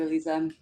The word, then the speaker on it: Eliza: Thank you, Eliza. Is it Eliza or yes, it's Yes, Eliza. There's Elisa, only one way to and pronounce Eliza.